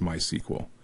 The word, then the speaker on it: MySQL: and in this series we're going to use MySQL sometimes pronounced MySQL and MySQL is pretty much the most popular